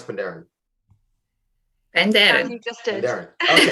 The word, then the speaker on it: Penderyn: How do you pronounce Penderyn? Penderyn.